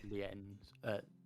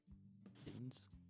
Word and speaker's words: Linz: Lienz. Lienz? No, Liz. Linz. Hot Linz. That's how you chemicals.